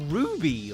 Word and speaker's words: RWBY: The 3D animated web series, spelled out as RWBY, but pronounced as Ruby, was an indie animated powerhouse from the mid2010s.